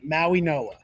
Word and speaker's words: Mauigoa: I'm going to try not to butcher this name, but Mauigoa, I believe, is how it's pronounced. Maui From Noah. Maui Think of Noah. the D as an N. Maui Noah.